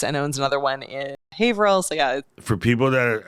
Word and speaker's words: Haverhill: For people that are listening on the home game, when you come to camp, the sign is going to say Haverhill, but it's Haverhill. Just get used to it.